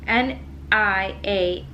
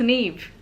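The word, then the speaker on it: Niamh: name here um so n i a m h yes um that is pronounced an eve and I just been saying Nia because I'm like how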